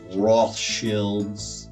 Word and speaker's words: Rothschild: Yeah, I know it's pronounced Roth Shields.